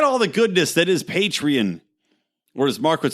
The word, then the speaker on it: Patreon: Go join and get all the goodness that is Patreon. Or as Mark would say, Patreon, because he always bitches me out for saying it wrong.